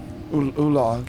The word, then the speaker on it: Ulag: Olag? Ulag, yes. Olag. It's spelled Ulag.